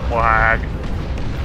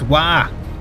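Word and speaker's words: Waaagh: Wag. It's not wag, it's wah. The GH is silent.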